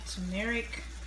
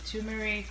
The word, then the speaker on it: turmeric: This is my turmeric or turmeric or whichever pronunciation you choose to use.